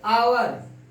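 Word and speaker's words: hour: आवर, ये आपका silent हो गया।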